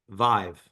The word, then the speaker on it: Vive: like oh yeah it's Vive it rhymes with five it's easy no no